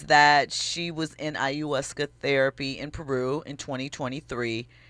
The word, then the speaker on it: ayahuasca: The accuser says that she took an ayahuasca trip. Am I pronouncing that right? Ayahuasca. Okay. I think that it's ayahuasca that she's talking about, which, is a psychedelic mushroom, right?